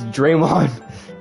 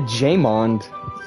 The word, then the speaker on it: Draymond: got one it's Draymond you said it wrong again it's Draymond you said jaymond is it it's with a Dr Dre yes thank